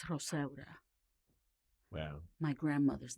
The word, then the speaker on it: Rosaura: because no one could pronounce Rosaura when I was growing up.